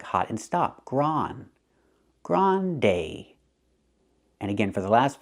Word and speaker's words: grande: to a mediumsized cup the word is not pronounced Grundy Grundy we have two vowels to change the first vowel not gr but gr use the open a sound like hot and stop gr Grande we don't say Grande we say Grande use the long a like say and pay so again we don't